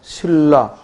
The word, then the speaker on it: 신라: 예를 든다면 뭐야? 신라, 진리 이런 말들. 그래서 이음절의 단어의 경우에는 100% 니은과 리을이 만나면 뭐가 일어난다? 유음화가. 그래서 리을로 발음된다.